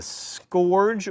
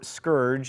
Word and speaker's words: scourge: Americans have been sent as a scourge or scourge as it is apparently properly pronounced what I'm from Alabama